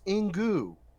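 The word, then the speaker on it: Inkoo: check these people's Twitter's staff writer at Twitter pronounced in goo born a Crone in goo so it's pronounced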